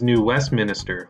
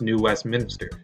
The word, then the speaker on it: New Westminster: for animation I also mispronounced Alex's Hometown as New Westminster when it's actually pronounced New Westminster this is a common mispronunciation even among people